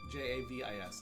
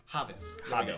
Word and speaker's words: Javis: Javis, I'm assuming it's Llaves. Javis. Javis. J, they do the ha. Okay, that's right. They do. Los Javis.